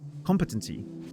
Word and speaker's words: competency: Competency. Thank you. Competency. Yeah. stress on the first syllable.